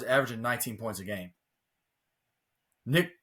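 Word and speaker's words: Nique: rebounds four assists it's oh it's Nick it may be Nick but it's spelled Nick so n iqe but neck Clifford 19 almost 20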